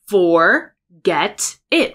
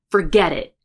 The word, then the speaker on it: forget it: When you read this word, you read forget it, right? You think that T is a strong T. It's not. It's forget it, edit, edit, edit. It's a flap. Forget it. So we have two T's. One is a flap and one is a glottal stop. Forget it. Forget it. And then I'm not saying for, I'm saying fur, fur.